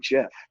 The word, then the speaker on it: GIF: on Twitter and said oh it's actually Jeff like the Jeff peanutbutter well and then this division kind of happened in the group chat where it was like who thinks it's actually Jeff and at this point